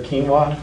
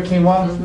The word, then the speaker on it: quinoa: gluten are grains like quinoa. Anybody ever hear quinoa? Yeah. You might have heard of it, but it doesn't sound like it's spelled. But that's quinoa pasta.